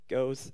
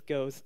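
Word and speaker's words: GOOS: you use this two keywords which are called Goes and GoArch. Don't call me out for this pronunciation. It's Rob Pike who has very sometimes special ideas on how to call things. So it's Goes and GoArch.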